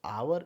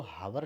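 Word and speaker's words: hour: I have only आवर तो आवर इसको हार नहीं पड़ते इसको आवर ही पड़ते हैं तो आप सिस्टम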